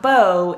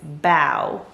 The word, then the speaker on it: beau: this word incorrectly so it's not bo it's bao this next word actually